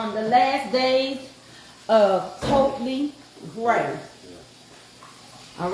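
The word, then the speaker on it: Ptomley Grey: Yeah, the P is. That's what I'm saying. Totally Gray, not Tommy Gray.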